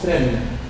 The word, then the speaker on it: prennent: On ajoute N et on met le ENT, il se prononce prenne.